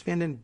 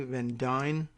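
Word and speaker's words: Van Duyne: All of the top staff of freshman Texas Republican Representative Beth Van Dyne, and I guess it's Van Dyne, D-U-Y-N-E, Van Dyne is my best guess at pronunciation.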